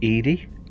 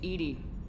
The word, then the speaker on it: EDI: you have a specific inquiry well the name Edie why are you named Edie Ed is the phonetic pronunciation of Eed that is an acronym for